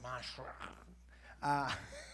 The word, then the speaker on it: Manschreck: Like you have to be like, Manschreck.